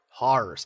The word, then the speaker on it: Howrse: It's Horse. So it's spelled HOWRSE. But the logo, like the name, is stylized to look like HAWRSE.